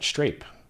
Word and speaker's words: Strape: But for some reason, when I tell people Strape, they can't spell that shit. And then I say Strape, S-T-R-A-P-E. Yeah, street rape, I'm familiar. So strawberry grape, I'm like, yeah, Strape, like strawberry grape.